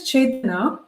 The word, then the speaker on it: Chetana: the English is how my name is said in Hindi.